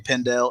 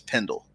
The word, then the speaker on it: Pendell: a question I know when you guys say my name pendel it's Pendle so I want to clarify that okay you're the you're